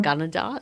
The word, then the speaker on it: Gunnedah: Gunnedah, is that how you say it?